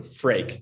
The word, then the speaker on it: Freek: when you're not dutch so how to pronounce it it's like drake the famous artist but with an f so freak that's like the clothes